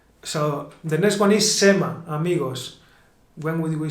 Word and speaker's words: se me ha: Sometimes, Luija, I hear people saying Sema. So the next one is Sema, amigos.